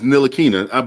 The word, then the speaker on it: Ntilikina: Your Knicks, they drafted Frank Ntilikina or whatever, however you say his last name. He's so bad he can't even say his name. It's Ntilikina, but I understand.